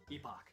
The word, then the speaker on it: Epoch: with so Marley Magus Epoch even though I know that last one is actually the British way of pronouncing it but whatever it sounds cooler than epic it's great that this